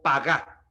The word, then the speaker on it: pagá: emplea el vocablo hebreo pagá pagá es un vocablo hebreo que se escribe p a G de gato y a de Andrés tildado p a g a pagá Qué significa influir con